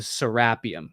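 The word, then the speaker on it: Serapeum: some things like the serapium which is pronounced serapium not serapium but the serapium or the Osiris shafts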